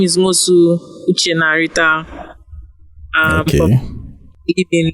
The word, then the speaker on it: Uchenna: My name is Mosu Uchenna Rita.